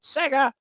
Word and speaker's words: Sega: the chat room 1991 you have to pronounce it Sega yeah yep that's how